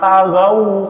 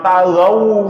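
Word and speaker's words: طغوا: Masa Anda baca alladzina taghaw fil bilad, padahal yang benar alladzina taghaw fil bilad.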